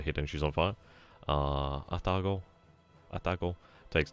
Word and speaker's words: Atago: Probably more accurate to say Atago. Atago. Yeah, Atago. I mean, Japanese obviously do not. Well, you like equally pronunciate.